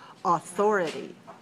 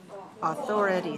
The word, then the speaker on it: authority: our first word is authority authority how many syllables do we see in this word authority has four good authority where is this where's the stress second good so the syllable